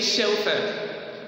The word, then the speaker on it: chauffeur: We pronounce it as sh. Oh. And then, fur. So we say chauffeur.